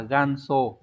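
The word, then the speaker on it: 元祖: Hán tự là chữ Nguyên và chữ Tổ đọc là ganso ganso này có nghĩa là tổ sư cha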